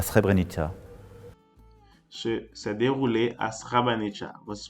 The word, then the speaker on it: Srebrenica: E se pronuncia Srebrenica.